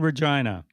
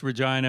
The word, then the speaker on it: Regina: And of course, Regina makes you giggle. Oh, absolutely. It will never not make me giggle. And this is because it rhymes with a part of the anatomy of females.